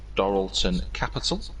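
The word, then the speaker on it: Dorilton Capital: team's new owners the answer was obviously I pronounced this correctly dorlon Capital dton isn't it I think it's dorlon isn't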